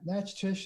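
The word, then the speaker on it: Natchitoches: right pretty close that match tish is how i've heard it pronounced also with a different accent on the a but that's that's right it's not what it looks like well then you have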